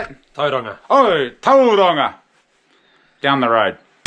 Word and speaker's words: Tauranga: Tauranga.